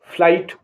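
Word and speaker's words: flight: माने शक्ति एफ एल आई जी एच टी फ्लाइट Manan T एच आई जी H Jang Thai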